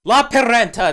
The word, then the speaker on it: Lappeenranta: Lapinranta, that's how you pronounce it.